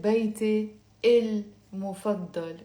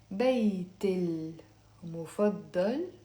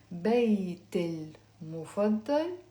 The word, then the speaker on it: بيتي المفضل: Okay, but I'm not going to pronounce it بيتي المفضل like that. We will pronounce it with a liaison. بيت المفضل, and then you say it.